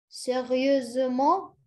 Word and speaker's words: sérieusement: pronounce it? Sérieusement. Sérieusement?